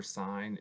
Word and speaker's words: sine: Some things to be aware of: sine, cosine, and tangent are functions of angles. Do not say sin, cos, or tan. They're pronounced sine, cosine, or tangent.